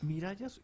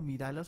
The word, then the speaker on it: Mirallas: Vic Mirallas. Mirallas, yo acá creo que le decimos como Miralas a veces, yo como que la he embarrado. Sí. Entonces voy a decirlo bien. Vic Mirallas.